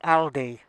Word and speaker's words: Aldi: uh little jaunt elder audi audi uh we pronounce it yes it's aldi okay thanks for watching